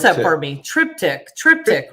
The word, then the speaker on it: Triptych: album number uh part three which is uh pronounce that for me triptych triptych right triptych just came out you can find